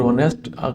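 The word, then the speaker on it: honest: इज एन ऑनेस्ट और ऑनेस्ट आपको पता है कि एच साइलेंट है और ओ से ये शुरू हो रहा है ओ की साउंड दे रहा है तो एन ऑनेस्ट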